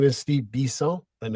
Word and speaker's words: Bisson: Well, my name is Steve Bisel and it's pronounced Bison because I'm from born and raised in Montreal, Quebec, Canada.